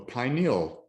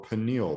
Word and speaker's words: pineal: have a pituitary plexus a pineal plexus or pineal plexus both pronunciations are correct we have the thyroid